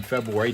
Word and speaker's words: February: Meanwhile, of course, you and I are chatting during the music and the commercials, and I do pronounce the R in February.